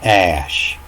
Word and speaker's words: Ea: In the Sumerian writings, it talks about Ea being the god of creation. It was Ea, and it's pronounced Ash.